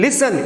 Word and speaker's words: listen: In listen, LISTEN, so here T is silent.